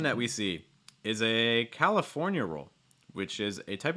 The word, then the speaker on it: California: saying it california california notice also that that stress is really on the fore so the other syllables don't have to be super super clear you know you don't need to say like california you don't need to do it you just say california california you know i don't